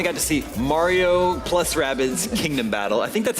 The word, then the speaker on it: Rabbids: Well, at both the Ubisoft and Nintendo shows, we finally got to see Mario plus Rabbids Kingdom Battle. I think that's how it's pronounced.